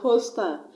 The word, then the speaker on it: hostile: on the first level let's look at another word eating ETA T ing now it also has two syllables and I'm gonna stress on the first level let's because I know